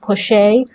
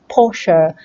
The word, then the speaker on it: Porsche: pronounce it is it push a or is it Porsche know its posture it's a German word number two what do